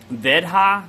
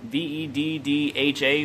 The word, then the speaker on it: Veddha: So I can't pronounce the name of it. Veddha, V-E-D-D-H-A, Veddha, whatever.